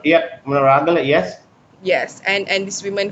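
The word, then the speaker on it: Monaragala: own food, and we're also seeing it in Moragala, Charit, if I'm Yes, pronouncing. yeah, Munaragala, yes.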